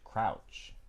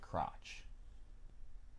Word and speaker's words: crouch: this is one girl she refused to pronounce crouch she would say crotch oh oh i got